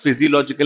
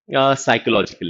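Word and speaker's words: physiological: First आते हैं, first is फिजियोलॉजिकल need, often मिसप्रोनाउंस्ड एज साइकोलॉजिकल need. बहुत सारे बच्चों ने तुम में से इसको साइकोलॉजिकल नीड कभी ना कभी बोल दिया होगा। याद करो, कभी ना कभी जब पहली बार देखा होगा, ड्यू टू स्पेलिंग ऑफ, थोड़ा सा इग्नोरेंस हो जाता है स्पेलिंग को लेकर। This is फिजियोलॉजिकल need. ना फिजियोलॉजिकल नीड साउंड्स लॉजिकल।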